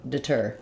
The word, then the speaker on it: deter: word deter our stress falls on the second syllable tur that means that the letter de rather than saying de like in De or death they will have a reduced vowel it sounds like I it's the same vowel sound we have in words like did and it but even shorter and more reduced D DET deter deter